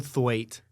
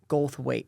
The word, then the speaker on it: Goldthwait: Goldthwait. Goldthwait.